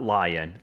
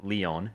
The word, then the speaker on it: Lion: resisting fate of Leon so not lion Leon is how you pronounce their name not Levi either apparently